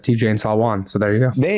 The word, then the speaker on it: Salaün: I don't know the 100% pronunciation, but I would have said Tidjane Salaün. So there you go. There you go. So we'll work on that. Apologies. I know Salaün is definitely the correct.